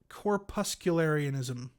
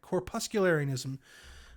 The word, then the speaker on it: corpuscularianism: gonna have to look at this word and pronounce it correctly it's corpuscularianism yes i actually got that right corpuscularianism um corpuscles which is a sort of vaguely